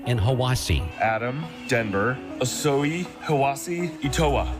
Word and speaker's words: Hiwassee: I'm from Cleveland, Tennessee, and it's pronounced Ocoee, Etowah, and Hiwassee.